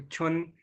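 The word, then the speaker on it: 春: छुन, इसको प्रोनाउंस करिए छुन।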